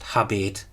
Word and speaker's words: habet: Now I have pronounced it as habet, as you would in classical Latin, but in early Latin and in Plautus it was probably still pronounced habet with a long vowel.